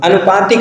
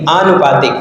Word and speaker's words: आनुपातिक: बिंदी का इस्तेमाल होगा अनुपातिक नहीं आनुपातिक फिर देखो हम वही बात कहते हैं कि जब भी एक प्रत्यय लगा हो तो प्रारंभिक वर्ण बड़ा दीर्घ हो जाता है ठीक है